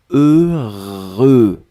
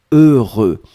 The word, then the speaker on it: heureux: fois heureux donc ne ne regardez pas le h ne regardait pas le x ne regardait pas le eu juste fermer les yeux visualiser c'est cette combinaison heureux heureux et après vous allez